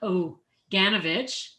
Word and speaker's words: Oganovich: The first is Mohammed Abunada, and the second is Mark Oganovich.